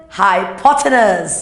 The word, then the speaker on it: hypotenuse: the 90 degrees what do you call that pronounce it right not people potables what I call it hypotenuse yes that's the longest side of the triangle